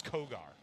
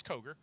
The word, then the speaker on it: Koger: Everybody says Kogar because it's spelled that way, but it's Koger.